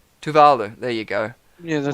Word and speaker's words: Tuvalu: Because I butchered it. Tuvalu. Tuvalu.